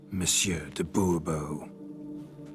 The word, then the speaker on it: Monsieur de Bobo: as Monsieur de Bobo fine Monsieur de Bobo the emphasis falls on the last syllable see now I'd rather